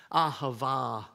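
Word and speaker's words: אהבה: this one um the Hebrew word which is pronounced ahava means to give it's spontaneous it's it's impulsive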